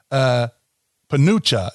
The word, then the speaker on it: penuche: spell it again. It's okay. So, Penucha is how you say it.